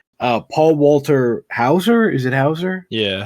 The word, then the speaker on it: Hauser: Paul Walter Hauser, is it Hauser? Yeah, Hauser. I'm the worst with pronouncing names.